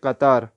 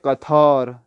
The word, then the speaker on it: قطار: قاف توئی الف رے قطار، قطار کو اردو تلفظ میں پڑھیں گے قطار. تو قطار فارسی تلفظ میں پڑھیں گے قطار، تو آ کو تھا کر کے پڑھیں قطار.